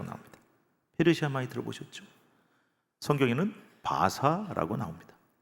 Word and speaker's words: 바사: 성경에는 바사라고 나옵니다. 왜 성경하고 세계사하고 발음이 다릅니까? 영어식 발음이고요. 이거는 히브리식 발음이기 때문에 다른 거예요. 네 번째 제국이 있습니다.